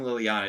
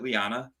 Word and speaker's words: Liana: saying her name wrong i've been saying liliana is it lyanna lyanna oh i thought there was a second l i've been saying it